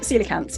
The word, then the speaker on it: coelacanth: So coelacanths is spelled with a C, but it's pronounced with a S sound.